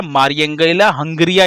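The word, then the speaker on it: Mariangela Hungria: तो वो कुछ नहीं है, बस स्पेलिंग के प्रोनाउंसिएशन को हिंदी न्यूज़पेपर ने ऐसे कर दिया है ना। मारिया एंजेला और हुंगरिया, ये बस हिंदी न्यूज़पेपर में कहीं कहीं पे आपको देखने को मिलेगा प्रोनाउंसिएशन जो ट्रांसलेट हुआ बस उसकी वजह से। इनका नाम क्या है? मारियंगेला हंगरिया इनका नाम है।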